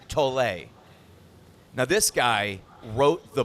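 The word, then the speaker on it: Tolle: I don't know the proper pronunciation of his last name, but it is written like tool. T O L L E. Someone told me it's actually Eert Tole.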